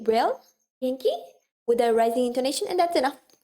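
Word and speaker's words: 元気: It's Genki. Yeah, the textbook, right? Now, ki again remains the same. I said the pronunciation is not going to change most of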